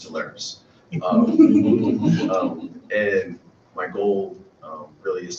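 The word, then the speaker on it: Telarus: vice president of corporate marketing for its hilarious pronounced talaris and my goal really is to help with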